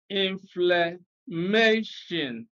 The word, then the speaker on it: inflammation: in i o n polysyllabic words ending in ion are always stressed on the second syllable from the end of the word and